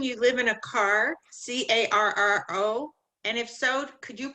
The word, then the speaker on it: carro: C A R R O. And if so, could you pronounce it again for me?